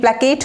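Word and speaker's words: placate: প্ল্যাকেট, PLACAT, প্ল্যাকেট।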